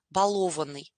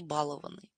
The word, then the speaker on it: балованный: Кстати, обратите, пожалуйста, внимание на замечательное слово «баловать», да, и «балованный». Ударение ставится только таким образом. Никакого «баловать» и «балованный». Да, «баловать», «балованный». Очень частотная ошибка, да, при произнесении этих слов.